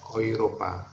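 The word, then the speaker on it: Europa: Mau berarti kalau misalnya kayak euro bacanya euro, iya. Euro ya, Oiropa ya.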